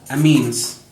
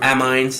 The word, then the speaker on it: amines: we're gonna talk about a means or a means or a mines there's many ways to pronounce this but the basic fact